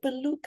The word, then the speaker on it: Piluca: Piluca, I feel like I created a song. Yeah, you're pronouncing it very well, I must say.